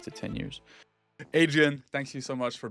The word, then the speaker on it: Hadrien: Yeah, so H is silent.